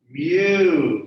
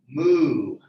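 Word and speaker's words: μ: as m-u it's a greek letter mu not mu we're not cows no cows okay you say move everyone laughs at you even if they don't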